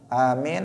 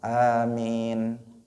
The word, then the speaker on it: Amin: Amin. A-nya panjang, mim-nya panjang. Amin. Bukan amin. Bukan amin. Bukan apa lagi? Bukan amin, bukan amin, bukan, tetapi amin. A panjang, mimnya juga panjang.